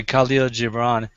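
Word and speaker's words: Kahlil Gibran: was really powerful and uh by the way Kalo gibron um for three decades of my life I wondered how to pronounce that name I'm was really glad that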